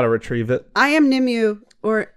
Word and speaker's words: Nimue: I am Nimue, or it's pronounced different ways in Japan? All the different countries. Okay. Nimue and Nimue.